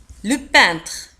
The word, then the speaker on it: peintre: pompier un pompier الرسام le peintre le peintre un peintre le peintre تكتب ب P E I N T R E وتنطق le peintre un peintre le peintre le peintre un peintre